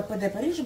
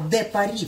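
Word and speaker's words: de Paris: Я знаю что это ПД Париже был а д Пари правильно произносится я-то видите я ещё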